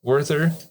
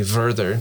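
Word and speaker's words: Werther: Talther Talunda Ulrich Urika Worther I guess it would be Verther because they don't pronounce the W.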